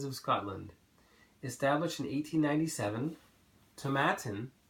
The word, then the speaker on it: Tomatin: Established in 1897, Tomatin, rhymes with satin, is also one of the highest distilleries in Scotland at 350 meters above sea level.